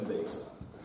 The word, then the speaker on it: Dijkstra: І це фамілія голландського походження, тому як воно читається, знають лише самі голландці. Ми будемо казати, що він Dijkstra.